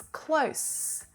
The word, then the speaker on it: close: short distance away it's close and this is the unvoiced sound exactly the same mouth and tongue position as the z sound but it's made with air pushing through our mouths you please close the